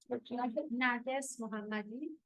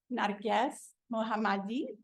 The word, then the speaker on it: Narges Mohammadi: Will you help me with the pronunciation of the name? Narges Mohammadi. Narges Mohammadi.